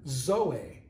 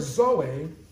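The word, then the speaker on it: ζωή: you might have life it's the greek word zoe it's spelled z o e zoe zoe jesus i'm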